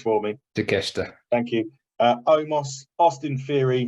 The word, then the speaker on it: Takeshita: He's got Mustafa Ali, Claudio Castagnoli, Wheeler Yuta, that Japanese guy that you're going to pronounce for me. Takeshita.